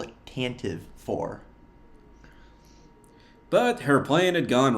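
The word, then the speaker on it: Tantive IV: It's pronounced Tantive 4. I wholeheartedly reject that. It looks like Tantive, I'm calling it Tantive, okay?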